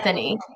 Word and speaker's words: Persephone: Maybe I didn't pronounce it right. Persephone, is that the Oh, Persephone. Persephone? Say it again. Persephone.